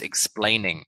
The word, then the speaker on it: explaining: bit like oh was explaining this is three syllables explaining can you say